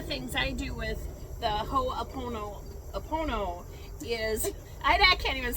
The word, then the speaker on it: Ho'oponopono: I call it the honey pony pony, but it's the, how do you say that again? The Ho'oponopono.